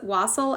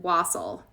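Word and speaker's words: wassail: i i pulled was wassel out i think this is how you pronounce it wassel it's w-a-s-s-a-i-l i did my i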